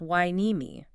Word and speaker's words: Hueneme: And uh, another local pronunciation note for you, the city is pronounced wine-e-me.